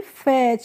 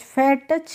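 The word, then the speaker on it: fetch: टी सी एच कहीं भी एक साथ जब आते हैं फ्रेंड्स तो उसका हम प्रोनाउंसिएशन करते हैं च करके। ठीक है? इसीलिए इसको हम पढ़ेंगे फैच। फैट टच करके नहीं पढ़ेंगे।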